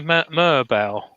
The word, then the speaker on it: Merbau: So I think it's a bit of Merbau, if that's how you pronounce it.